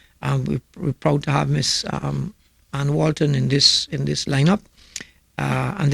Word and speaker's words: Anne: Virginia Annie Walton, Mrs. Anne. It's pronounced Anne.